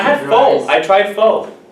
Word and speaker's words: Phở: I tried pho. Phở. Pho? Phở. Pho. Phở. It's very difficult to pronounce it.